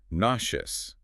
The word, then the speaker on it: nauseous: It is nauseous. The middle part sounds like the shoe in shoe.